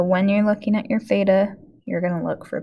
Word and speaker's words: theta: Okay, theta is how you say that. It's just from the Greek alphabet.